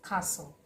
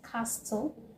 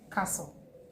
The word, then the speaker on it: castle: For example, you have the first word which is castle. How do you say this word? Do you say castle? No, it is castle. Castle. The T is not heard is not pronounced.